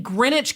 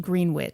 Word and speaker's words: Greenwich: In Greenwich, Connecticut. That is a hefty price tag, you know. Pronounced Greenwich. It is not pronounced Greenwich.